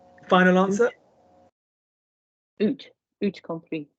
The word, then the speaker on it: eut: So you've got the right word, my darling, but we don't pronounce the T.